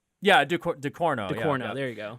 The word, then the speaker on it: Ducournau: She's from France, and her last name is probably pronounced something similar to like Ducournau. Yeah, Ducournau.